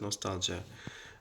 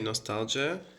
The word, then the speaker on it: nostalgia: What is nostalgia? Actually, British people say nostalgia, but American people say nostalgia. They don't pronounce O, they just pronounce it shortly, like nostalgia.